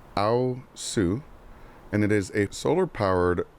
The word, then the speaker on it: aosu: I actually just learned how to say this. This is aosu, and it is a solar-powered wireless security camera and spotlight.